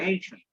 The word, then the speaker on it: ancient: এনশিয়েন্ট Mariners, এনশিয়েন্ট এটা হ্যাঁ উচ্চারণ হচ্ছে এনশিয়েন্ট, ঠিক আছে?